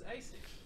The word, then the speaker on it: ASIC: going to be from asic when adam says hi i'm from asic that's how you pronounce that yes everyone please say hey sick it's asic thank you let's start